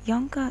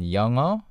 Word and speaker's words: 영어: of g sound in 영어. 영어. Yeah, even though you see the word or the letters ng, and you see the G there, you do not pronounce it as G.